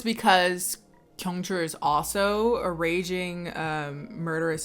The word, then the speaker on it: Kyung-chul: Kyung-chul, it must be pronounced Kyung-chul. 'Cause there's no other way to say those syllables next to each other. Kyung-chul, Kyung-chul.